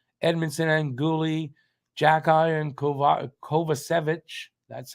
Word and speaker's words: Kovacevic: Jacki and Kovacevic. That's how you pronounce it.